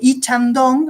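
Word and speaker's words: 이창동: Y los personajes de Lee Chang-dong, así se pronuncia en coreano, se escribe Lee, ¿sí?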